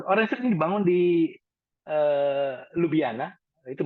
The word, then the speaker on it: Ljubljana: Ya, Orange Tree ini dibangun di Ljubljana, itu bacanya Ljubljana di Slovenia, mantannya Yugoslavia, dan dibangun awalnya untuk medical.